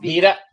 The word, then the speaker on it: Vida: It's pronounced Vida. Vida. Vida. Okay. Vida. That's how I would say it in Spanish, but that's right.